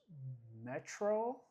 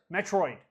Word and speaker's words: Metroid: And the first game I got on there was Metro. Am I saying it right? Metroid? Metroid.